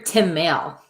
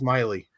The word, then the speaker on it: Maile: And hey, that's when you're supposed to stand up and say, "You're Tim Maile. Bring it on." It's actually pronounced Miley. Oh. Who? What? It's Miley, like Miley Cyrus.